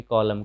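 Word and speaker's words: column: तो जब एम के बाद एन रहे तो एन का उच्चारण नहीं होता है, जैसे डैम, डैम का मतलब धिक्कारना।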